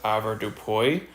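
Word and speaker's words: avoirdupois: different groups you've got this group called It's pronounced AAR Dupo and it's based on um one pound being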